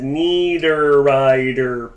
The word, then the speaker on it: Niederreiter: Or as my wife could never pronounce his name, so I said Niederreiter, peanut butter. And then all of a sudden she knew Niederreiter like it was back for him.